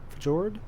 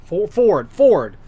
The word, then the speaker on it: fjord: Fjord? Ford. I think they say Ford with, in other words, the J is silent, so they say it just like the actual word Ford, I guess.